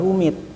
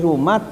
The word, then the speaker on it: Rumat: Ya, saya dengar sendiri mengucapkannya katanya jabar rumit ya. Jadi, jadi rumat ee menjadi rum rumit.